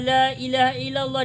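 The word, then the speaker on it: لا إله إلا الله: Cara bacanya dipanjangkan, Bu. Bagaimana caranya? Dipanjangkan. Berarti begini. La ilaha illallah. Tirukan saya, Bu. La ilaha illallah. La-nya yang panjang. La ilaha illallah.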